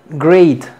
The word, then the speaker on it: great: Tenemos palabras que van con EA, pero que todo se pronuncia A. Tenemos great.